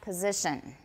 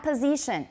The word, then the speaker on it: position: position the front back position not position position s is pronounced as z and then the vowel is in e position position everyone beautiful the